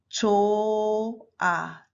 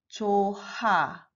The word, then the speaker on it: 좋아: If the final consonant contains h, h makes no sound. It's silent. So we should read this. 좋아, 좋아. Not 좋아.